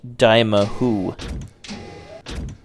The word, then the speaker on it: Dimahoo: the third game of the series and it's pronounced Dima who here is the last boss of the game